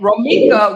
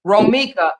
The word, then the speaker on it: Roma: So the court the court said the court will call Cadasia Johnson versus Rama and Rama which is the respondent she says Roma I'm sorry that's how you say it.